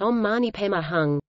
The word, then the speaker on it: Om Mani Padme Hum: So in Tibet, for instance, where this mantra is on the lips of many Tibetans all their waking hours, the mantra is pronounced Om Mani Pema Hung.